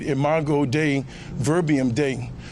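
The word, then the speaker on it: Dei: I said, "In my God day verbium day." Once you spell day in Latin, it's spelled d e i.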